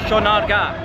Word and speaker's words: Sonargaon: area near Panama City Sean our gap that's how you pronounce it okay yeah so that's